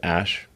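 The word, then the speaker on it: Æ: So, I mean, it's just X, the letter X, and then the AE is like pronounced Ash.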